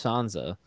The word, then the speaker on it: Sansa: a relief for sure i think normally i would say sansa but since everyone on the show is also english and say sansa it's like it's just